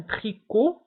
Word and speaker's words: tricot: فانتبهوا هنا tricot تكتب بالتي في آخر الكلمة ولكن لا ننطقها. donc un tricot لا ننطق تي.